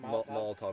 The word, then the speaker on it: Molotov: How do you pronounce that? Molotov.